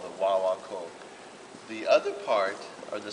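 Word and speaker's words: guaguancó: One of the first basic rhythms, if you ever get into playing conga drums, there's a basic rhythm called the wah-wah-kul. And it's spelled G-U-G-A-U-A-C-O.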